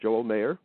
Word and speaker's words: Joel Mayer: And that uh my guest today is Joel Meyer. Okay. or you pronounce it mayor. Correct. Joel Mayor.